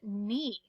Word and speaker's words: knee: is the word knee what do you see again you see that k and n and we know that that k is silent because that's a pattern that we recognize so today we're gonna